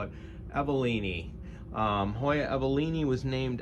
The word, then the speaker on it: Hoya evelinae: myself and Hoya evalini it could be pronounced avalini evelinai eveline a we're gonna go with avalini apparently uh botanist pronounced it all over the place so there's no real right or wrong way that's what I read on the internet so we'll call it